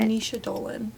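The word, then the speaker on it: Naoise Dolan: It's Irish, but... Nisha Dolan. Perfect.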